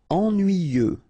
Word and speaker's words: ennuyeux: Ennuyeux. Okay, final X not pronounced, and then the same concept.